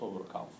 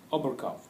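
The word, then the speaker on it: Oberkampf: and a well-known work actually by overcome i don't think probably in english it's not overcome it's another pronunciation of this one but so anyway oberkaff he is he is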